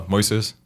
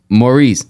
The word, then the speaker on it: Moises: I'm so sorry my name is mois uh Moises Maurice no Moises Moises Moes how do you spell that it's m o i s s m